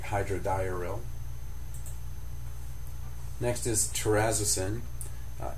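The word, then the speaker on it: terazosin: Next is terazzisin is how I've always pronounced it, but I've also heard it as terrazosin and that's hyrin.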